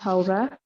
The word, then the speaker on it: Haura: Oh, well, it's pronounced Haura. You're correct.